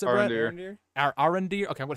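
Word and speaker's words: Arondir: I think my biggest gripe was Arendor. Is that how you pronounce it, Brett? Arendir.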